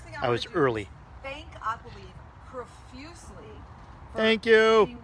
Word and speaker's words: AquaLiv: Now, I am saying AquaLiv because I believe that's how it's pronounced. You might say AquaLiv or AquaLive. Let's go with AquaLiv, unless someone says different, okay?